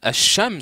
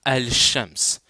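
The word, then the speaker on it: الشمس: je dis quand bon c'est mieux de dire asams que de dire al Shams c'est mieux de dire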